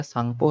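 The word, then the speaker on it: Tsangpo: टी का यहाँ पे प्रोनाउंसिएशन नहीं होता, ध्यान रखिएगा, सांगपो है।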